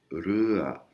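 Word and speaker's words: เรือ: Le son re n'existe pas en thaï, c'est un R roulé comme les Espagnols.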